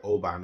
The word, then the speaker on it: Oban: saying it I say Oban some say OB but I say Oban and this is the way I pronounce it looking to review the